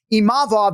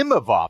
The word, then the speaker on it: Imavov: Imavov, the emphasis was on the E, that first one, as opposed to Imavov, right?